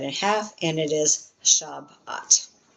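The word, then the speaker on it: שבת: Therefore, you're going to cut that in half and it is shabat.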